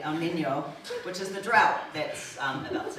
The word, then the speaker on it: El Niño: I was told to pronounce that properly, El Niño, which is the drought that's about to hit us.